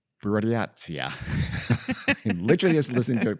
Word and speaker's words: Buryatia: Our story takes place in a place called Buryatia. Literally just listen to it pronounced, and I'm still struggling.